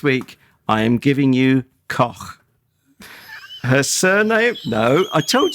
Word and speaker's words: Koch: I am giving you Koch. Her surname... No, I told you weren't allowed to do that. Her name is Olga Koch. Her surname is spelled Koch, and it's as in Loch Ness.